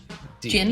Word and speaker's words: Djinn: Jinn. Jinn? What word? It's DJINN. Yeah, it's not even spelled like how it Oh.